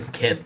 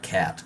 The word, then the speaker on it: kit: The word kit sounds like a kit, not cat, like kit, box, you know?